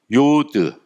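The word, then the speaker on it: יוד: 밑에다가 점을 찍어 줘요 요드 요오드는 와이 발음 0에서 y는 혼자서 못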